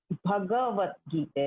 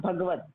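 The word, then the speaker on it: भगवद्गीता: Yeah, it is Bhagavad Gita, not Bhagavad. Not Bhagavad. Yes. Bhagavad Gita.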